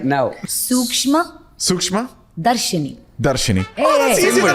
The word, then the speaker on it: Sookshmadarshini: Sookshmadarshini. I need you to say it. See, that's what, I was helping you. Sookshmadarshini.